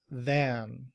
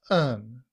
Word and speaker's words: than: Then uses this symbol for th which is voiced. So it sounds like the this symbol sounds like a and then we have the letter n then.